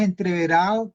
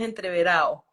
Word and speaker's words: entreverado: título para largometraje y Pero y le pones entreverado que es una palabra muy propia de creo